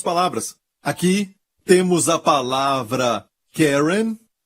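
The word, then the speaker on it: קֶרֶן: desta aqui Caron Caron a palavra Hebraica para ela é Karen ou querem é assim se pronuncia em hebraico querem se o seu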